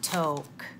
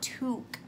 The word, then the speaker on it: toque: nicely pointed out that that is a Canadian word and it's not toke even though that would have been really funny it is pronounced to tio qu e toque like I have this